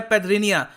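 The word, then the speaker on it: Petrinja: ये जो जे है इसको ये प्रोनाउंस करते हैं एज वाई। तो ये है पेथरिनिया।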